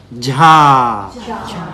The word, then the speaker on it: jha: ja, But when we say the other one, we pronounce the other one with more aspiration. One more time. Ja, cha, ja, cha, jha, jhana, jhana, right?